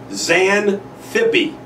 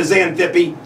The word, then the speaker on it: Xanthippe: It's not spelled the way it sounds, by the way. TX, pronounced like a Z.